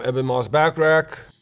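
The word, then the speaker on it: Ebon Moss-Bachrach: I'm Eban Moss Backreck.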